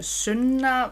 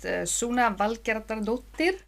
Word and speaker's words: Sunna: Uh, my name is Sunna in Icelandic. Uh, most English speakers pronounce it Suna.